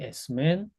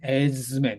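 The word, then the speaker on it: ἐσμέν: 자, 그래서 에이미, 에이, 에스티, 에스맨, 에스테, 에이시, 에이나이. 제가 에스맨이라고 습관적으로 읽어버렸지만 원래는 에즈맨 이렇게 읽어야 돼요. 미 다음에 미 전에 시그마가 나오면 z 이렇게 읽어야 됩니다.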